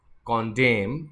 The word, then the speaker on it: condemn: So the first word is 26 and it is condemn. M के बाद N silent होता है, इसलिए N को नहीं पढ़ना है।